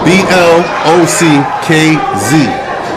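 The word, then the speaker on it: Blockz: You spell that B L O C K Z. Can't forget about the Z. But you just called yourself blocks. Yes, it is block Z. So you're emphasizing that Z.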